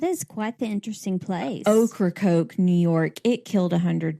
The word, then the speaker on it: Ocracoke: It is how it is spelled. That is quite the interesting place. Ocracoke, New York.